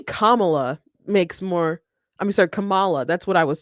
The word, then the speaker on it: Kamala: saying her name wrong camela Harris our leader cameela they okay so they're not quite saying it right okay then I'm I'm sure it's it's Kamala but people aren't saying it right isn't it's not on